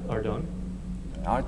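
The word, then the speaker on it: Ardougne: Uh, Ardone. Sorry, the audio was picking up a little bit. Okay, but you actually kind of got the right answer.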